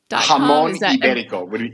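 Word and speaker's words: jamón ibérico: Jamon Iberico. Jamon Iberico would be the Spanish I was pronunciation.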